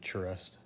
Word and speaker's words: Charest: Travis shares work or how David Finch pronounces it charest of and then I